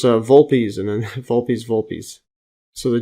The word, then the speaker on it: Vulpes: Volupus, or actually I think it's pronounced Vulpes, and then Vulpes.